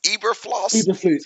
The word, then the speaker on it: Eberflus: Hey, your boy was Yeah, how you pronounce his name? Eberfloss. Eberflus.